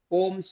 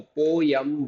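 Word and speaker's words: poem: यहाँ पे एक और सरप्राइज एलिमेंट होता है, यू गेट पोम्स also, पोयम बोलते हैं भाई हम लोग, तो you people call it एज पोम, so what ever you wish to pronounce it.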